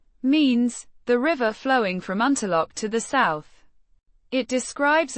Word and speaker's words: Унтерлок: Unterlok. It would be pronounced similarly to how it is spelled in German, Unterlok, with emphasis on the lok syllable.